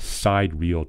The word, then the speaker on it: sidereal: So first thing, it's not pronounced sidereal time.